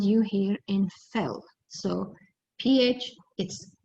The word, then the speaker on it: Phil: All right, so for this example, we see PH, so we pronounce it fell, will sketch, TCH, a graph, again PH, for math.